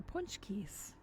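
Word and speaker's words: pączki: seen punch Keys except you might not have known how to pronounce it because you know it's polish way too many consonants particularly Z's C's and K's and hardly any vowels but they're um they're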